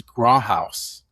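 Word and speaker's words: Grauthaus: It was Gro House. So, how do you spell that?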